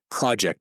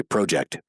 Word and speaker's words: project: See, I've trained myself to say project because that's how Americans say it, but right. We're in Canada, so we can say project.